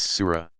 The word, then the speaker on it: surah: New Testament arranged in 114 sections called Suez pronounce Sura Mohamed's earliest revelations tend to be short rhetorically